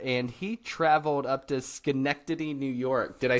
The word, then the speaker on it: Schenectady: So, Todd lives in the Boston area, and he traveled up to Schenectady, New York.